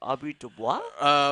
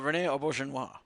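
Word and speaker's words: René Auberjonois: oh my god odo um okay I'm gonna butcher the actress named Audrey Dubois rene auberjonois thank you uh as a baseball fan it's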